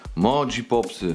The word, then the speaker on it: Moji Pops: Mogi Popsy. Mogi Pops, tak to się Mogi wymawia.